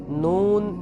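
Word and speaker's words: نون: নুন হরফের নাম যখন আমরা উচ্চারণ করব নুন তখন নুনের উপর কিন্তু পেশ আছে।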